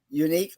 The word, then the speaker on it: Eunic: very special guest and i hope i pronounced your first name correctly it is uh uh unique is that correct munich yes my wife is